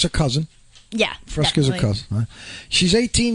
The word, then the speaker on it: Frasca: Frasca. like the drink? Like the drink, but with 2 A's instead of an E and an A. Like Frasca.